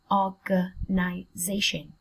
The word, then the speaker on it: organization: Trọng âm dâm tiết thứ 4. Giây. Organization.